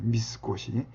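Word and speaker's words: 三越: 미스코시. 3월 미스라고 읽고 월을 꽃이라고 읽거든요.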